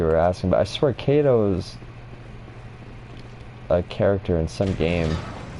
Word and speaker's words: Kato: name I'm thinking of, starts with a K, as in K-A-T-O, so Kato. And I know that's how it's pronounced, because I remember hearing it.